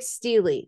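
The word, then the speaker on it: stele: of our artworks and there's a couple different ways to pronounce it but we're going to go with steely steel e steely this is from arabia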